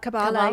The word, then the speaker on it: Kabbalah: Well, you also mentioned in the book that you studied, I don't know how to pronounce it. Kabbalah. Kabbalah, yeah.